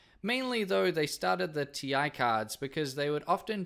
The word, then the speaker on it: Ti: yes i pronounced at TI everybody I've ever met pronounces it ti not Thai so we're gonna go